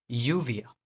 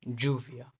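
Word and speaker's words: lluvia: जब भी double L दिखे उसको वाई से रिप्लेस कर दें, जैसे यूविया, यूविया। कई जगह पे इसको ज भी बोलते हैं, जूविया। डबल एल को य, ज और श बोला जाता है, लेकिन अभी इसको य प्रोनाउंस करना है हमको, यूविया, यूविया।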